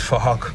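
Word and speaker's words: Phuc: His name is Fahok, but spelled with a P-H, so it sounds like Fahok.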